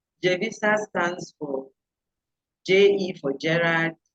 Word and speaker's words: Jevisa: And what this t-shirt says something there, they say Jevisa Beauty.